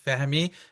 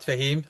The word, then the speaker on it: Fehmi: My name is Fehmi, not Fahim, or Fehmi for those who cannot pronounce the H.